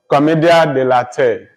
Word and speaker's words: commedia dell'arte: It's a French word. Or I think it's French. This drama has Italian origin.